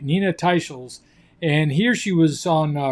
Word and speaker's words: Nina Teicholz: And I did one the other day where I mentioned the name Nina Teakles, but it turns out her name is pronounced Nina Teicholz.